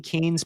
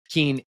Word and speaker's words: Kean: a book, are Leslie Kean's book. It's pronounced Kane, actually, but it's spelled in a way that you would think it was Keane.